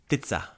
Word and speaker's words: ptica: Word for bird, ptica.